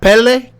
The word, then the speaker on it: Pelle: yeah okay you know how to hard to pronounce yeah so we have pele now did i say your name right yes